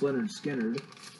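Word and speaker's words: Lynyrd Skynyrd: Starting with the first one, and of course, that is pronounced Leonard Skinner.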